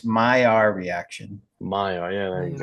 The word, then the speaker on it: Maillard: Maya, yeah, there There you you go. go. Like take the L out. It's Maillard, but it's pronounced Maillard.